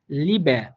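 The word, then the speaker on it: Liebe: কিন্তু যে সেকেন্ড যে উদাহরণটা লিবে, এখানে আপনি এই যে লাস্টে আমরা একটা এ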